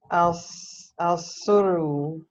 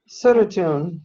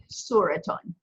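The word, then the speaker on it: صورةٌ: Al Suru. Okay, not L. Remember, there's no L flam here because we're saying a picture. Oh, Suratun. Suraton, very good. Suraton.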